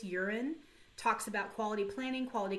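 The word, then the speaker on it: Juran: on crosby on 31 urine that's how you pronounce this urine talks about quality planning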